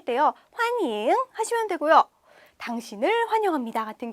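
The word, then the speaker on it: 欢迎: 말과 굉장히 유사해요 발음이 대신에 환영이라고 하지 않고 환잉이라고 해 주셔야 돼요 영이 아니라 인이다이 인자 기억을 해 주시면 될 거 같아요 자 환영합니다 할 때요 환잉 하시면 되고요 당신을 환영합니다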